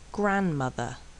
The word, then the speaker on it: grandmother: And sometimes the D is silent. Handsome, grandmother, handkerchief, grandfather, handcuff, Wednesday.